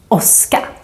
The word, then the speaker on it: åska: Åska. Let's compare these two words. Tåg, åska. Tåg, åska. Can you hear the different sounds of the O? One is longer and one is shorter.